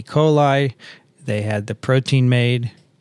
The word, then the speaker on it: coli: coli. Really? They said it should be pronounced E. coli, because it's Latin, after all.